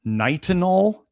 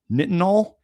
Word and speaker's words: Nitinol: They al yeah nickel titanium or stainless steel or I forget how the pronunciation was or nitanol nitanol niti t i n o l which is